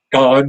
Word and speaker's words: Don: It's not, Don is not short for Donald. It's short for, which is spelled with an A. So I could have been Dan, but they chose to treat it phonetically. So it was Don, short for, and, short for.